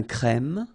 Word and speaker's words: crème: Un serveur, une table, une terrasse de café, un crème, remember, E accent grave, un crème, un noir, un expresso.